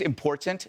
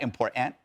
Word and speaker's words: important: By the way, it's important, not important. Okay, just right. If you're gonna school us on education, pronounce the damn T in important.